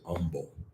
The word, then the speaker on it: humble: I've heard people say humble. They leave the H off and just use the U.